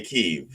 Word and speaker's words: Kyiv: If you're from the Russians, I think the Russians say Kiev, and the Ukrainians say Kyiv.